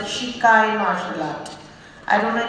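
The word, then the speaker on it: Squay: It's spelled as S-Q-U-A-Y and we are supposed to pronounce it Shikai martial art.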